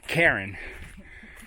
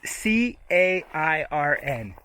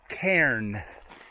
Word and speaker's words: cairn: nuances in pronunciation it's c-a-i-r-n cairn and k-e-r-e-n is k-n c c-a-r-i-n i r n it's one syllable cairn cairn cairn yes cairn and the person is karen as in two syllables we saw some cairns